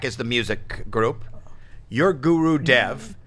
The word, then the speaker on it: Gurudev: You said it right, Gurudev.